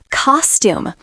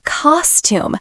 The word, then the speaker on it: costume: Costume. Say costume with the first part strong, not costume too long, just a gentle second part.